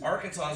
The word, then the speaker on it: Arkansas: may not know is Arkansas is one of only two states that has a silent s in the name and